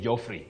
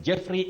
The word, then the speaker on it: Jeffrey: Jeffrey, locally we say Joffrey, but it's Jeffrey Omolo, you say Hall.